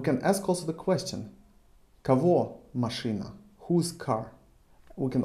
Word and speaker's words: кого: Кого, чего. Кого, чего. Written кого or чего, pronounced кого, чего.